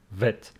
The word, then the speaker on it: vet: is a labod dental your lip and teeth must touch each other making the sound V vet okay this one vet